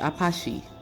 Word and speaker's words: apaki: The word paki actually comes from the Twi language of the Akan, with the original term being apaki, pronounced apache.